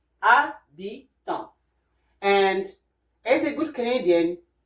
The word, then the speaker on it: habitant: For the word habitant in English, but in French is habitant. So you can hear that we don't say habit. No, we don't say habitant. No, we say habitant. H here is silent. Habitant.